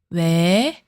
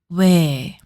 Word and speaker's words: 왜: To pronounce it, round your lips like O, but make her sound similar to 에. Repeat after me. 왜, 왜, 왜.